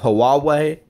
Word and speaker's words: Huawei: they do actually more than gps's we have huawei that is how you pronounce it we have sony mobile communications but